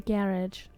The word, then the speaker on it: garage: The garage. The the garage rhymes with carriage.